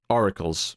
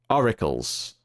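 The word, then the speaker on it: Aurakles: like multiple barbar gorens oracles right no it's a u r a k l s right although I I assume it's pronounced the same or at least similar right oracles oracles I don't know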